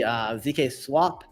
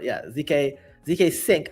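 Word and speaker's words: zkSync: Because SyncSwap, at least on the ZK Swap, or ZK Sync, I always say it wrong, ZK Sync era, it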